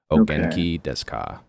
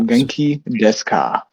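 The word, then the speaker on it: お元気ですか: The U is silent, so you pronounce it Ogenki desu ka. Desu ka. Yep. Ogenki desu ka.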